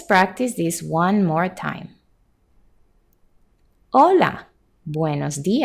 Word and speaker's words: hola: or she may say hola and you would simply say hola back notice how the H is silent and it is pronounced olola and not hola also